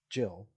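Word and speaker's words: gill: Well, it turns out that Gil, pronounced Jill, was a standardized measure that was twice the volume of a jack.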